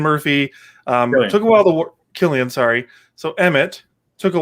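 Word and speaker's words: Cillian: silly and murphy killian it is killian yeah that doesn't follow proper grammar rules but all right killian murphy with a c um was absolutely amazing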